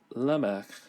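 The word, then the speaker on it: Lamech: finally take note of the name is actually Lemak as we'll see in the next verse it's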